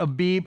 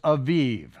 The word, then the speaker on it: Aviv: Now when you see Abib, anytime you see a B in a Hebrew word, in the body of it, it is normally, just about every time, it is pronounced as a vet instead of a bet, okay? It's not Elizabeth, it's Elisheva, okay? It's not Abib, it's Aviv.